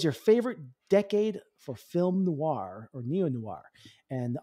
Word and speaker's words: noir: it's a hard word nor nor Noir Noir yeah that's it Noir spell phonetically on